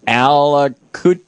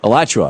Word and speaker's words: Alachua: Gene in Alachua. I know I'm mispronouncing that. Gene in Florida? Alachua.